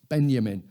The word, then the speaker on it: Benjamin: borrowed this idea from Walter Benjamin or Benjamin I should pronounce it properly but Benjamin and I think in